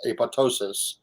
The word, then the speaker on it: apoptosis: It's apoptosis. Some people pronounce it apoptosis, but I think the second P is silent.